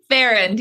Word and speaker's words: Farrand: So I want you to meet, and I asked her how to pronounce her name. Farrand? Farrand, yes.